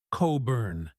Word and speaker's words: Cockburn: It might be pronounced Coburn.